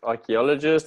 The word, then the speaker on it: archaeologist: who searches for fossils and ancient artifacts okay archaeologist and pronounce our key gist archeologists happy allergist archeologist perfect all right that's great next one is